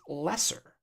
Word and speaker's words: Leser: He says Frank Leser's name is pronounced Lesser.